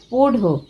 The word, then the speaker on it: পোড়ো: তিতির বলল, ও পোড়ো মানে মোষ, ওড়িয়াতে উচ্চারণটা পোঢ়ো।